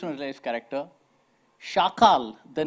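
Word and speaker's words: chacal: Day of the Jackal now Jackal in French is pronounced as shakal shakal so that became shakal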